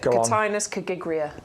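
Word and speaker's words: Cotinus coggygria: Cotinus cagigria.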